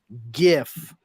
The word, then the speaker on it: GIF: GIF, not a GIF. I don't care what the guy who invented it fucking calls it. Graphics begins with a hard G.